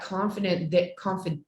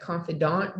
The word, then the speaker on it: confidant: because you always have that confident, how do you say that, confidant there, that trusted person